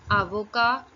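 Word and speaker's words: avocat: you simultaneously first profession is Advocate which is pronounced as Avoca in the masculine form and in the feminine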